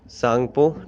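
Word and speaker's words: Tsangpo: इसको बोलते हैं इंग्लिश और हिंदी सेम, इसको बोलते हैं इंडस सांगपो। टी इसमें साइलेंट है सांगपो में, ठीक है।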